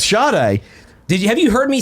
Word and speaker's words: Sade: Oh, so it's Sade. Have you heard me say this? No. You're kidding me. Thank you. And in the comments, people keep saying that they don't think Sade is pronounced that way.